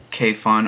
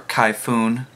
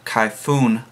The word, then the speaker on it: Kayfun: what the the Sesto Kay fun or kyoon I just found out the other day I've been saying it wrong this entire time so I'm trying to break the Habit the Sesto khoon light $1 $120 before